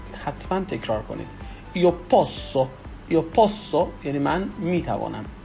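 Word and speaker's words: posso: یو پوسو. یو پوسو یعنی من میتوانم. ببینید اینجا چون به صورت دوبل اس در واقع هست باید به صورت مشدد تلفظ کنیم اس رو.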